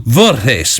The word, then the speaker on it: Voorhees: the band well uh i've been pronouncing them vertis because it looks kind of dutch and uh well i